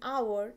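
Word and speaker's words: hour: used before it because the letter H in our is silent next comes word starts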